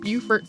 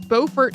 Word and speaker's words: Beaufort: He was enslaved from birth in the McKee household of Beaufort, South Carolina, which is pronounced differently from Beaufort, North Carolina, even though they are both named after the same person.